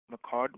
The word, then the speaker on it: McCord: McCord with me. Am I pronouncing your last name correct, Doctor?